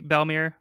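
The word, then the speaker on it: Bellemere: As a kid, I pronounced it Bellmare, but that's how I probably would have. I think I've heard people say Bellmere, but I go with Bellamere. Works for me. And I think that's the way that the dub pronounced it as well.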